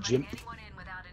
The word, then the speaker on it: GIMP: It's not pronounced GIMP, it's pronounced GIMP.